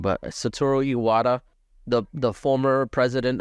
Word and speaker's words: Satoru: I feel like I'm saying it wrong but satoru Iwata the the former president of Nintendo yes